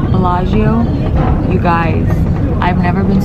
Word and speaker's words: Bellagio: Lake Como, and we're on the way to Bellario. I think it's Bellagio. How you say it, Bellagio.